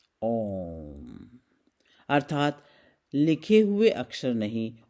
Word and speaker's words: ओम: कई बार हम सुनते हैं कि ओम का उच्चारण 3 अक्षरों से है, ओ, उ, म। नहीं, बल्कि ये ध्वन्यात्मक है, ओम।